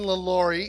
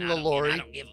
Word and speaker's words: LaLaurie: oh my gosh Delphine lalori you'll understand I could be mispronouncing that if she was French but I think it's Delphine lalori and then uh the